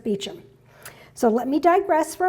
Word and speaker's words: Beauchamp: And for those of you who are new to the group or new to Baldwinsville, it looks like Beauchamp, like the French version, but it's actually pronounced Beauchamp.